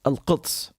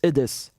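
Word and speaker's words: القدس: In Arabic, Jerusalem is al-Quds. There's this qaf, which a lot of Westerners have problems pronouncing and learning. Al-Quds. In Syrian, we wouldn't say al-Quds. We say al-Idis. They just drop the qaf and say because it's much faster and easier to say.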